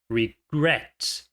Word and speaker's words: regret: Então, no caso de regret, regret, a sílaba tônica é a última, regret.